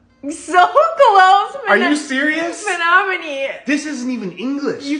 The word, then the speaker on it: Menominee: Minamani. So close. Are you serious? Menominee.